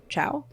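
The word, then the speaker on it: Chau: Chow? It's Chow, but it's spelled the Cho.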